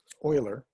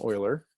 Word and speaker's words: Euler: It's pronounced like Euler, someone who deals in the oil field, works in the oil field. It's called an Euler.